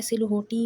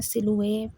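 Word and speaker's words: silhouette: एक तो ये सिलुए यह सिलहोटी या ऐसा कोई वर्ड नहीं है। इसमें सिलुए पढ़ना है आपने इसको। इसके अंदर एच और डबल टी ये कंप्लीटली साइलेंट है। तो ये वर्ड सिलुए बनेगा।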